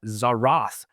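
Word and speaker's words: tzaraath: This is also called Zarath in Hebrew. That's spelled T-Z-A-R-A-A-T-H.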